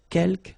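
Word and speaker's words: quelques: Uh you don't pronounce the final S here. Keelk means few.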